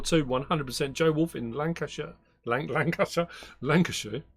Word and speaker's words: Lancashire: How do people say I always say sheer, but people say Lancashire. I mean, it is Lancashire. It's supposed to be Shire because they are Shires.